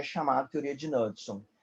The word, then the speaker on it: Knudson: A gente tem a teoria do Knudson, com K, Knudson, né? O K é mudo.